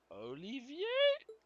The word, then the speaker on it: Olivier: Olivier. Oh my god. Prince Oliver. Why do you pronounce the T?